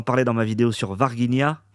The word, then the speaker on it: Varginha: dans ma vidéo sur Varginha, ou Varginha, on m'a dit que ça se prononçait en brésilien, désolé.